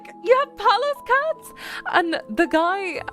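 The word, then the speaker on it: Pallas: So this is spelled P A L L A S. So palace cat.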